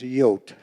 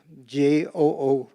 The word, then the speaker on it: Jood: And in Holland or the Netherlands, it was Jood. Jood.